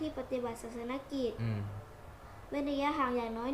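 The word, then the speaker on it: ศาสนกิจ: อย่าง น้อย 1.5 เมตร ออก เสียง ว่า ศาสน กิจ ไม่ ใช่ ศาสน สะกิด ศาสน กิจ โอเค โอเค โอเค ถาม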